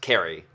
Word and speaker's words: Ceri: thanks kerry well hi i'm carrie spelt siri pronounced kerry as in classic carry you get it i've